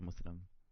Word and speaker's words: Muslim: say that but I I always say Muslim because like there's no there's no Z in the Arabic language sighs a Muslim like how it's spelled